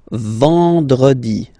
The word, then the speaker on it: vendredi: Then en, nasal, and it's en. So remember, vendredi, vendredi, vendredi, vendredi.